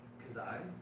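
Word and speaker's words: Khazae: Kazai.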